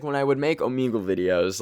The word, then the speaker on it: Omegle: also is it pronounced Omegle or omegal I think it's Omegle because it's like Omega but I'm Canadian so